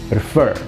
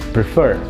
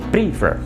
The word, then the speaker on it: prefer: salah digunakan, yaitu kata prefer. Oke? Versi yang benar pengucapannya adalah prefer. Penekanannya bukan yang di awal, tapi pada suku kata yang kedua. Prefer, bukan prefer.